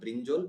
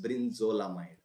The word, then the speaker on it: brinzolamide: Brinzolamide, not brinjol, it's brinzolamide.